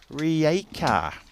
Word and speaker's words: Rijeka: So thank you for jumping in there saying hello, and also just helping us out with the pronunciation of Rijeka.